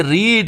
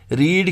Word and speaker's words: read: Same रहते हैं, लेकिन फर्स्ट फॉर्म की प्रोनाउंसिएशन जो है वो रीड है और सेकंड फॉर्म की प्रोनाउंसिएशन इट बिकम्स रेड। जब आपको सेकंड फॉर्म को प्रोनाउंस करना है, so then you pronounce रेड।